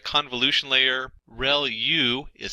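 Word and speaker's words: ReLU: are multiple hidden layers like convolu ution layer real U is how that is pronounced and that's the rectified linear unit that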